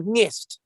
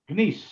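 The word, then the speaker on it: gneiss: Is it Nice or Nist? Nice. Nice. Nice.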